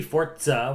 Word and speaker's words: Forza: now I just well they wanted to be fortza why didn't they put a tea in there because it's Italian it doesn't mean anything